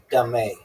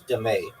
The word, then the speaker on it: dame: known as dame pronounced dame. Okay, also known as dé.